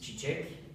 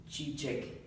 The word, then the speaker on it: çiçek: Çiçek. Çiçek. So this letter is like C, but in Turkish, C is pronounced J, and this letter is pronounced Ç, same like in chicken or kitchen.